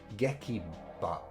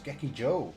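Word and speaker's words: 劇場: Gekiba. Gekiba. Did I say that right before? I might have said it wrong. Anyway, it's Gekiba, which is... oh, wait. Oh, no, it's not. It's Gekijo.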